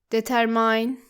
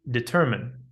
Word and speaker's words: determine: Sometimes you can hear students pronounce it like determine, it should be determine.